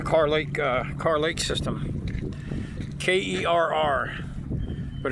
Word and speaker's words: Kerr: K E R R but it's pronounced Kerr up here.